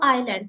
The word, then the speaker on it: island: yeah this is a island again many people pronounce it as is it is not Islam it is Island okay and again we